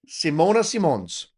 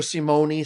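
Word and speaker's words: Simone Simons: It's all But, yeah, Simona Simons. That is how you say it in Dutch. And I and I think that Simona Simons, that's something that I could say. I was calling her Simone.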